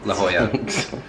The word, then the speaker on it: La Jolla: This place called Ho Chi Minh Trail in La Jolla. It's actually pronounced La Jolla.